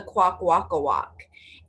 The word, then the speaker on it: Kwakwaka'wakw: So everyone needs to practice saying it, right? Quack, walk, walk, quack, walk, walk.